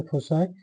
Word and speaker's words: foci: American pronunciation में फोसाई FOCI फोसाई और British में इसको फोकाई कहते हैं.